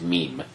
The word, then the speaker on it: meme: said multiple times it was meant to be pronounced as meme.